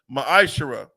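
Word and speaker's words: מעשר: 3: 8-10 means temp in the Hebrew it's pronounced maish 10% of every penny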